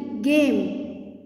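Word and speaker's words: game: ए होता है, but silent, इसमें आवाज़ नहीं आएगी। जी ए एम ई गेम, okay.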